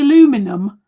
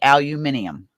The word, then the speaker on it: aluminum: that you with the aluminum it is Aluminum we say aluminum here in Canada in Australia and the UK you say aluminium because it's spelled different